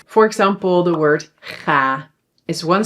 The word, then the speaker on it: ga: So when a syllable is open, it ends on a vowel, then the vowel is pronounced long, but we only need to write one.